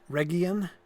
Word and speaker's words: Region: Like, so there's an area just called region, right? No, it's called Region. Actually, it's a hard G. But it's an easy mistake to make.